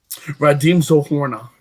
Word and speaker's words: Radim Zohorna: Radim Zohorna.